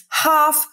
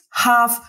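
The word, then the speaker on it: half: pół po czyli It's have past ten OK I jeszcze spójrz w have nie wymawiasz jednej litery nie wymawiasz l to nie ma litera w tym wyrazie jej tam nie ma więc have past ten albo jest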